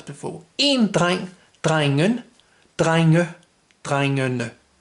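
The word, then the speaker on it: drengene: an E and not an ER, it becomes dreingene. So you've got kind of this double ending here as before. In drein, dreingen, dreinge, dreingene.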